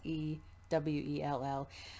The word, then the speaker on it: Sewell: Yeah, it's Sewell.